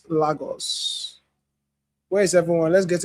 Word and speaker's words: Lagos: I know it's pronounced Lagos. Same pronunciation with the Portuguese. Lagos.